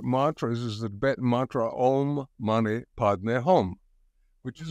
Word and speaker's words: Om: And in his teachings, he says that the pronunciation is ah, and then ooh, and then he says you're supposed to eat the M and take it down into you.